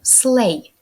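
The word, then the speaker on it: sleigh: Play snowballs сани англійською slay дві останні літери ми не читаємо сay бенганські вогні bangel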